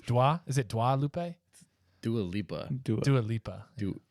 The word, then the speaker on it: Dua Lipa: been titled Fruit Dua Lupe for like ages.